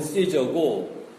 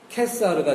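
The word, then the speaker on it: Caesar: 발음을 시저를 영어로 발음하면 시저고 라틴 발음으로 하게 되면은 한국식으로는 다이사고 그 원래 라틴으로는 케사르가 되는 것입니다.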